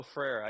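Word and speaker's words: Freire: until I read your book yeah it's Paulo frera and he's a very interesting figure because um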